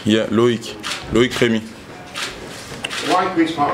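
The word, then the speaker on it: Loïc: Comment ça se prononce votre nom? My name, Remy. Et votre Loic? Prénom? Loic. Yeah, Loic.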